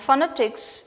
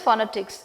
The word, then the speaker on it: phonetics: So, it begins with Phonetics, and then the very first sound, PH, we refer that as, and we pronounce that as F. It is not P, it is F.